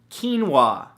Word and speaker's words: quinoa: beautiful thing number two quinoa spelled ke en wuah no that's not how it's spelt at all but it should right come on English now the